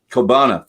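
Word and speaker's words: Ceòbanach: Kobana, thank I you. think it's Kobana, right, Nick? Is that right? Cabana.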